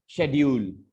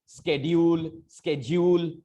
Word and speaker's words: schedule: अब आप इसको बोलेंगे शेड्यूल. बस खत्म. बहुत सिंपल कर दिया गया है. अच्छा है, कम से कम शेड्यूल, स्केड्यूल से अच्छा है.